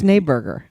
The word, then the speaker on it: Schneeberger: It's Schneeberger.